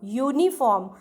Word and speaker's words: uniform: A uniform, it is again y sound, uniform.